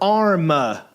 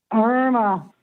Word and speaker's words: Irma: Is it Irma or Arma? Irma.